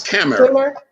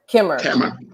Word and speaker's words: Khmer: Am I pronouncing it right? It's Khmer. Khmer.